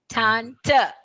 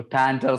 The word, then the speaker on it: Tante: Tanta. Oh, Tanter. Sorry, ma'am. R is silent.